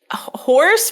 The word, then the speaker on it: Howrse: Did you ever play Horse, but it's spelled HOWRSE?